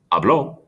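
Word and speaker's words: habló: the slight difference there it changes the emphasis on the syllable hablo present hablo preterit i hope you're with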